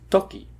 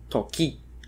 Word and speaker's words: toki: would still be acceptable stress falls on the first syllable of a word pronounce it a bit louder longer or higher pitched for example the word Toki is pronounced Toki and not Toki toip pona words are